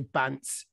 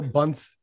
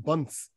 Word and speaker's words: Bance: I should say, my dad would be disappointed if I say Bance. He'd go Bunce. You know, it's pronounced Bunce. You know, it's not Bance.